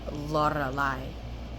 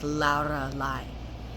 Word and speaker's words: Lorelei: Sometimes I go by in public, but there is also the pronunciation Lorelei in Spanish. So it's like Lorelei. So you would pronounce it more with a deeper R, Lorelei. And that's like the Spanish pronunciation, and it even changes